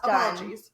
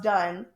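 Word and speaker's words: Dunne: Alex Dunnies. Sorry, Alex. Alex Dunn.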